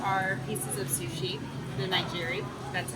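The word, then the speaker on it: nigiri: we just got our pieces of sushi the nigeri that's how you pronounce it and actually this comes with some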